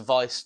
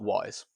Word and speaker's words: Weise: It's spelt Weise that way, but it is German, so it's actually spelt Weise. In German, it's Weise, which actually means wise, but either it's Weiss, not wise.